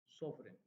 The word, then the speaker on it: sovereign: now let us see for example question through sovereign GF is not pronounced I mean these two letters are not